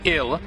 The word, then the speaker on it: IL: And right now, this ill that was stolen from us is located somewhere in the Limitless Fortress. You're calling it ill? Pronounced exactly the same as the English word ill, meaning sick or dying?